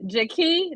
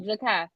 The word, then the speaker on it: Jakai: y they say okay you said jaki jaki Jak how say his name Jak I'm sorry jakai jakai I want to respect that name okay jakai his question is